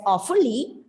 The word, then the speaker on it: awfully: When you come across a double consonant, just take it as one. So you need not pronounce the word as awfully, it's awfully.